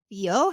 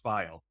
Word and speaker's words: Fiel: I'm very excited today because we have a very special guest, Fio. Hi. How are you? Hey, good. Um, I know it's recording, but it's actually pronounced file.